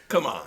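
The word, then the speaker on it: Kumon: Uh come on. It's Yeah, but it's spelled K U M O N. Did you ever see it? They're like in classes and stuff. It's called Come on.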